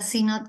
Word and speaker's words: Sinnott: Esta vez vamos a contar con la presencia del profesor Sinot, perdón, porque se pronuncia Sinot, lo checamos de hecho,